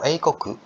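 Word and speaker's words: 英国: Kalau eikoku, eikoku itu negara Inggris ya. Ya, misalnya ini. Ini apa bacanya?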